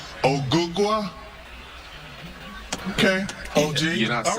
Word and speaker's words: Ogugua: My real name is Ogugua. Ogugua?